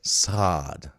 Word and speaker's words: SAD: Oh, And no, I guess it's like sod. Stay at home, dad. Sod. Oh, You gotta I say usually hear the mute is silent. you got to say it right.